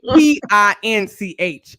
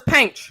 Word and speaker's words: Pinch: pranked paige now uh p-i-n-c-h it's pinch but pronounced out loud is paint he always it works